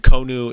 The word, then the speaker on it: Konu: eyes i'm sorry m-o-l-a-s-s-a uh tolenia t-o-l-e-n-i-a and konu is k-o-n-u um these are the four deities